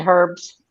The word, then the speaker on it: herbs: You guys do not pronounce the letter H. Okay, the stuff But it that you're going to depends. put on your food is what? You're saying herbs?